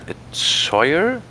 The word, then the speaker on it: choir: That's not that's totally differently spelled than it's pronounced. Yeah, it's like it's a CH, but they do it as a K sound.